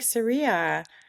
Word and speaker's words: Cirilla: store and they're like, oh, like Sarilla, like, and that's fine too. You can pronounce it like that. But if they ask me how to say it, I'll say it's Cirilla like gorilla, just so they'll remember.